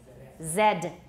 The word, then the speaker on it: zed: phone problem but anyway in american english it's x y z but in british english it's x y zed and not just british outside of the united states i believe other countries all call it zed in canada too all